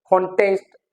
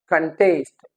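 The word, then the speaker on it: contest: कंटेंट इट्स a verb कंटेस्ट इट्स a noun कंटेस्ट इट्स a verb so now let's discuss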